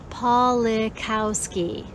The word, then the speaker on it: Pawlikowski: name is quite long my family name has four syllables i want to clearly say paulie kowski right so that people